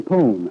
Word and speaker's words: pone: But I think, Bill, it's probably because of that good Kentucky corn pone, of which I've had some of late. Corn what? Corn pone. Oh. You spell it P-O-N-E.